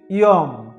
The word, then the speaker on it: যম: অন্তস্থ জ এর উচ্চারণ হবে ইয়, রস্বই অ বা রস্বই অন্তস্থ এর মতো। যেমন জম এর উচ্চারণ হবে ইয়ম।